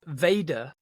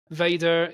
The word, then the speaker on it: vader: spoiler spoiler alert yeah Vader is the Dutch word for father the Dutch word is instead pronounced father yeah V is German